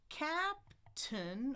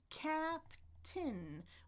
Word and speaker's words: captain: So I can say captain or captain, whichever one I like. But the stress is going to still be on the first one, no matter what.